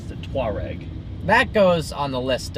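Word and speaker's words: Touareg: have a Volkswagen the Volkswagen tware which looks like teg but it's actually not that I think that's the one that's named after some African tribe and uh it's the tware that goes on the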